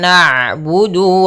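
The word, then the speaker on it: نعبد: iyyaka na'budu wa iya tapi nanya tipis jangan na na enggak tapi tipis na'budu na'budu maka iyyaka na'budu wa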